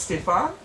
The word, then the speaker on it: Stefan: And especially when you've got a J. Stephen in your team and you're being told it's Stefan. Not the first one where I thought it was easy to, you didn't need to check the pronunciation, but find out you do.